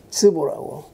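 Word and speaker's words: 淄博: 태산 밑에 곡부 이 밑에 내려오면 스보라고 중국 발음으로 스보, 치박이라고 그 삶.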